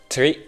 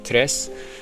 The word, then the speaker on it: tre: I always thought it was tri. Fuga 3 Sogetti, but no, it's tre. Fuga 3 Sogetti. Kind of a little bit like Spanish tres.